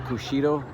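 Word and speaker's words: Kushiro: Apparently Vancouver and a town in Japan, Kushido, I believe would be the pronunciation, are sister cities, and this was built to commemorate that.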